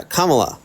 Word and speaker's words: Kamala: and also it's comma can you say comma correctly I said exactly how you said it spell it out say Comm say the syllables say the syllables Comm La yeah commala there you go I said that that's